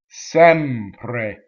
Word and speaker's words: sempre: non stress is closed sempre okay so the mm goes into the P sempre again it's completely legal